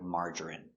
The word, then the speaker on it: margarine: Pronunciation, margarine. Mm. Ah, open sound, ah, ma. Er, mar. Mar. Juh, juh, strong, juh. Marge. Er, marjer. Marjer. I, marjery. Marjery. N, margarine. Margarine. Margarine. Three syllables, stress on the first syllable, marge.